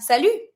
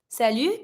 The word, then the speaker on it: salut: But we have salut. Salut, careful when you pronounce it. You don't pronounce the T.